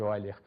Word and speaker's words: Euler: Escreve-se Euler, mas pronuncia-se Euler.